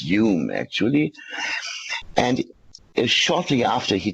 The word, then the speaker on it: Home: He's a Scottish, that's why it is pronounced Hume, actually.